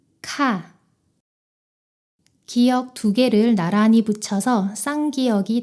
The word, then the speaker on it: 카: 목에서 공기를 더 강하게 터뜨리며 발음해 보세요. 모음 아를 붙여서 같이 발음해 보겠습니다. 가, 카.